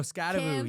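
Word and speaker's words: Skattebo: Oh, Scababoo, yeah.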